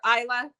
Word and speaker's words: Isa: it so this is about Isa or Isa is how you pronounce it and Seb um so